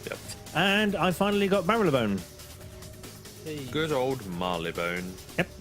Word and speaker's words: Marylebone: Yeah, not Marylebone. Nope, it's Marylebone. So so saith the announcer on the train whenever we got close. Yeah, but they're never right. And I we're now approaching Marylebone. Oh, that's how you say it. Okay. Not Marylebone or Marylebone or Marylebone or Marylebone, but Marylebone.